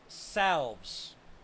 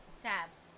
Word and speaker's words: salves: quick is a homemade homestead salves saps saps salves depends on how you want pronounce it homemade homestead SAVs ourselves